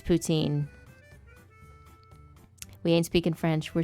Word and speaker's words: poutine: baguette chris hall um i've seen some people say that poutine is pronounced putin and they're wrong they're incorrect i don't care how many french people say oh it's putin they are wrong they are incorrect it's poutine we ain't speaking french